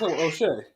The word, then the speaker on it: O'Shea: The O'Shea Jones. Oh yeah. I might be saying it wrong. Yeah, it's O'Shea.